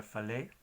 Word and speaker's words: falei: a diferencia de español, la letra I al final lleva el estrés de la palabra. O sea, no hace falta de una tilde. Por ejemplo, la palabra falei, hablé, ya tiene estrés al final sin la necesidad de tilde.